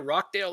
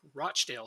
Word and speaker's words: Rochdale: yep you've been to rockdale loads rochdale sorry loads i love the grunt yeah i know i realize i said it wrong as soon as i